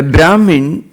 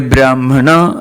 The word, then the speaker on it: Brahmana: A Brahmin or a Brahmana, as the Sanskrit word is properly pronounced, means a spiritually enlightened person.